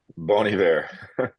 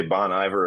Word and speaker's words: Bon Iver: Bon Iver. It's We okay. Some people say Bon Iver or call me Mr. Bon. That's all good too. we often scream out Bon Iver because we've heard DJs